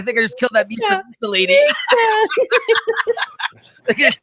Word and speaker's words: Mhysa: How do you pronounce this, Christina? Mhysa.